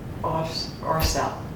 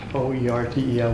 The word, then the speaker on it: Oertel: Ortel. Just forget about the first E and pronounce it that way. O-E-R-T-E-L without that E.